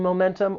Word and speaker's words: momentum: The word has three syllables. the stress is on that second syllable. Momentum. Now, one thing I'll say, and this is really about the American accent. Sometimes when the T follows an N sound, it may elide and it gets removed.